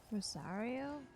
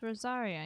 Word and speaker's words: Rosaria: Rosario? I thought it was Rosario, wasn't it? The new character, whatever her name is, I forget. She's called Rosaria in Genshin.